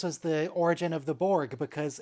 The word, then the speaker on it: Borg: the text to speech Just pronounced Borg as bourge yes yeah sounds uh